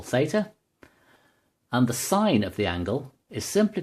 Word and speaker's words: sine: So this distance here is equal to the sine of the angle theta, abbreviated to sin, but pronounced sine.